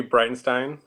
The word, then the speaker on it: Breitenstein: my name is Breitenstein my last name is pronounced like bright and then the letter n and then Stein um I'm 29 unfortunately